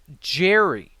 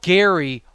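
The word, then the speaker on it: Gerry: let everybody know that my name is spelled g-e-r-r-y and it's pronounced jerry yeah sometimes you'll you'll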